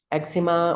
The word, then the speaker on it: eczema: and same with um eczema or eczema depending how you say it so you don't want